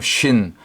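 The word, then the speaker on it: שׁין: 신신 요거는 한 글자인데 점이 오른쪽 가면 쉰 왼쪽으로 옮겨가면 신 발음상의 강력이 좀 차이가 나고 이빨 모양이니까 영적으로는 재와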